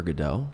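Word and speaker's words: Godot: Is it waiting for GDAU?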